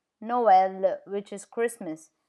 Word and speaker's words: Noël: It shows that the vowel on which it is placed, the two dots is placed, is pronounced separately from the vowel before it.